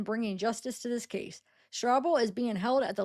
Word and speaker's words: Strouble: Why do I keep wanting pronounce it Strouble, but maybe it is just pronounced Strouble, like trouble, because it's trouble.